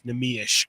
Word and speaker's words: Neemias: I think that's like the Portuguese. Correct, yes, like the most correct pronunciation is Neemias Queta, but nobody Nobody tries that hard, really.